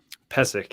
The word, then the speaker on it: Pesek: Is it Pesek? Is that how you say it? Pesek, yeah. Pesek, sorry. Pesek, Pesek, yeah.